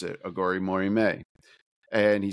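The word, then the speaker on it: Aghori Mhori Mei: And it's Billy Corgan saying how to pronounce it, Aghori Mori May.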